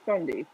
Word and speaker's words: 5undy: It's pronounced Fundy, but there's just a 5 instead of an F.